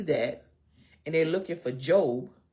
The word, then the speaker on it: Job: said he called it job. And there was no snickering. It was people actually laughing. That ain't no job, that's Job.